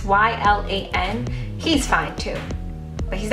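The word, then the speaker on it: Y'lan: the purge I think his name is Eli or Yi LAN I feel like I'm saying his name wrong but it's why LAN he's fine too but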